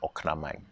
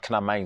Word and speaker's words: oknamai: It doesn't really matter, but the right way to say it is oknamai, right? But knamai is also fine.